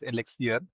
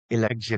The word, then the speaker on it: Eluxir: That's quite interesting because when I read the domain name I actually read it as Alexia but the way you pronounce it is Alexir. Alexure.